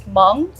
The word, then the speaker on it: Hmong: So people pronounce it Hmong, but really it's Hmong.